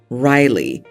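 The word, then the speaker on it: Rylig: suggested another name r y l i g Riley and again she did spell it out I vetoed it and suggested Riley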